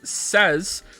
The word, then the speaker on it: says: Indeed, the younger you are, the more likely you are to make says rhyme with lays rather than fez.